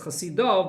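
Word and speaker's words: חסידו: The way it's written, though, is it's written Chasidoi, even though you pronounce it as Chasidov, but we can learn from Chasidoi that even one Chasid holds up the entire world.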